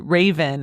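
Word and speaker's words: Ravyn: is called spice and originally I said raven but I think that her name is probably pronounced raven r a v y n last name is len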